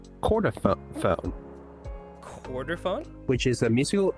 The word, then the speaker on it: chordophone: Chordophone.